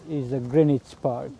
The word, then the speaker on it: Greenwich: of us like new people will say that Greenwich Park but it's not it's the correct pronunciation is the Greenwich Park right Not Greenwich.